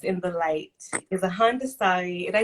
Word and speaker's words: Haudenosaunee: Malika Ari, the woman who walks in the light, is a Handasari. Did I say that correctly? How do I pronounce that? Haudenosaunee.